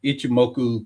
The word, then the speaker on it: Ichimoku: And it was like Ichimoku Cloud. I don't know if I I pronounced remember that that.